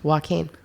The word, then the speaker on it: Joaquin: on joaquin first of which is how to pronounce that correctly joaquin that's how you pronounce it correctly i i